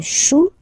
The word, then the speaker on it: chou: Then, un chou, okay, remember, when you combine this C and H, you get the sound sh.